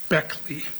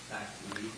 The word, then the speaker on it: Baechle: Uh, this morning, one of my investigators uh advised me that uh according to her attorney, she pronounces it Beckley Beckley.